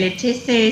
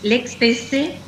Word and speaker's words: Leccese: Mira, lo pronunciaste bien. Lechese es en italiano. Lechese es aquí, en Argentina, así que de la manera que vos quieras.